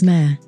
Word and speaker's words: mère: The French for mother is mère. True or false? True. Fun facts. The French spell it M, E with an accent, R, E. But it's pronounced like our English word for a female horse.